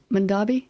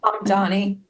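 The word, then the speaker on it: Mamdani: Mondavi? Mondani.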